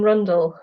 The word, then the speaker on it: Rundell: and I'm joined today by the wonderful Katherine Rundle hello can I just check I'm pronouncing your name correctly yes blue completely right